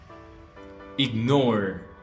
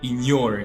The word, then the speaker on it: ignore: one is this one ignore we don't say in your no no no we say